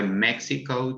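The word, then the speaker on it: México: is different that's why mexico today is spelled with x rather than j although in spanish we pronounce this as the same sound as j there is also the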